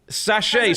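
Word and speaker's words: sashay: Sache, spelled s a s h a y.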